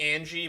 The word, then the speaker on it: Ange: I'm gonna pronounce it Ange. It could be Angie, but it's A-N-G-E. Angie. I'm gonna say Ange.